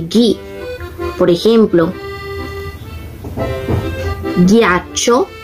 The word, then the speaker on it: ghiaccio: Por ejemplo, ghiaccio y portoghesi. Ese es el sonido similar al español, pero miren que se escribe con G, H.